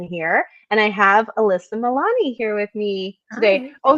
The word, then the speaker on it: Milani: like great I just did it again so Milani right yes yes pronounced that you know how many people say